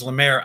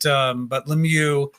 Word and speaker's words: Lemieux: And I mispronounced your name on that. It was when I thought it was Lemaire. I'm not sure where I got Lemaire from, but Lemieux, yes, we absolutely love that